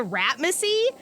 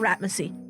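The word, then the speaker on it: Ratmasey: So, you read this paper about the curse of Basil Ratmacy. And I need to specify, it is spelled R-A-T-M-A-S-E-Y. Macy. Not Mussy.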